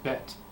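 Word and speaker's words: בית: the Hebrew letter bet the Hebrew letter bet has the sound B just like the letter B in English B the Hebrew letter bet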